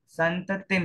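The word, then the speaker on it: संततिम्: नांगही मलमत दर्शनम जन्म संततिम देखिए संततिम है ये दीर्घ ई नहीं है रस्व ई है नांग ही अब यहां पर ही में दीर्घ ई है और यहां पर रस्व ई है तो उच्चारण अकॉर्डिंगली होना चाहिए नांगहीन मलम शेतम दर्शनम जन्म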